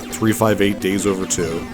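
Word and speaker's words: 358/2 Days: So, I finally beat uh 358 Days Over 2. That's how you pronounce it.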